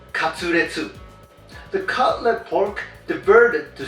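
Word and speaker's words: カツレツ: In Japan, it is pronounced katsuretsu.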